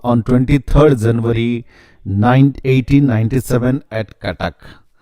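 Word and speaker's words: Cuttack: तो this is नॉट सटक, सटक नहीं है. इट स्पेलिंग लाइक सटक, CUTTSK, बट it's pronounce like कटक के.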